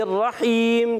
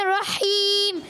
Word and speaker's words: الرحیم: رحیم میں ہا ادا کریں. بسم اللہ الرحمن الرحیم. بسم اللہ الرحمن الرحیم.